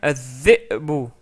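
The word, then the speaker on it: الذئب: Troisième mot, dhi'bun, dhi'bun. En rajoutant le alif et lam, ça devient az-dhi'bu, az-dhi'bu. Donc on rajoute la shadda sur dhal parce qu'en fait dhal est une lettre solaire.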